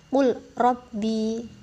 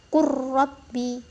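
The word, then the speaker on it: قُل رَبِّ: Kan kalau kita baca sungguhnya sesuai dengan bacaannya itu kan qul rabbi. Nah, namun ini tidak dibaca seperti itu teman-teman. Ini dihukumi mutaqarriban yang bacanya ini huruf lamnya diabaikan, kita masuk ke huruf ro-nya.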